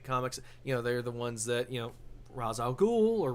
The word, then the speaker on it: Ra's al Ghul: They're the ones that Ra's al Ghul or Ra's al Ghul or Raz, if you're an idiot.